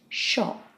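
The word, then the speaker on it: 書: And that's the character for to write, and that's pronounced sho in the word for library, toshokan. Finally, we have the character which is pronounced kang, and it means a public building.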